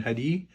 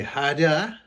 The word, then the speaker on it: hadi: Instead of saying hadi, I say hada. I said it wrong.